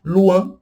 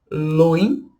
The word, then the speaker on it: loin: Luan, que é longe, distante. Luan, luan. E quan, que é canto. Quan. Luan, quan. Cuidado para não pronunciar loin e coin.